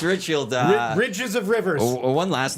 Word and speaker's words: Ridgefield: Like, I know I'm going to mispronounce it wrong. It's River something. Ridgefield. It's not even River. Ridgefield. River Ridge. It's Ridgefield.